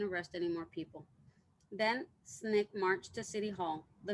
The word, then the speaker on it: SNCC: nonviolent coordinating committee or sncc pronounced snick for short snake came